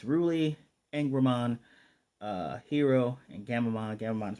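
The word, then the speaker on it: Angoramon: But Ruli, I love the fact she asked Angramon, saying his name. His name is Angramon. The O is silent.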